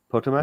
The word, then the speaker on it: Potomac: Potomac. Am I saying it right? Potomac? Yes. Potomac. Right.